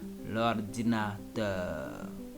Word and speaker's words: l'ordinateur: This sound also is very difficult for English people to pronounce. This is l'ordinateur.